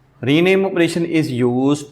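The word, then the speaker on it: ρ: Syntax में हमारे पास ये जो ऑपरेशन नोटेशन है, इट इज़ कॉल्ड रो। रो इसको प्रोनाउंसिएट करते हैं।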